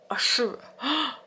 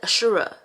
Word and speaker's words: Ashura: Also, today is the day of why can't I pronounce it? I'm about to say Arafat, but it's not Arafat. Ashura. I like literally said it. Ashura.